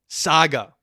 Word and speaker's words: saga: been working on saying that right after you Sega the Sega Ben the Sonic Sega it's Sega Saga I gotta say it right I'm getting I'm